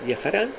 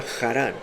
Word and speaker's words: Jarán: Entonces el papá sacó a estos dos hijos con sus mujeres y los trajo a una ciudad vecina que se llama Jarán con J, mientras que el nombre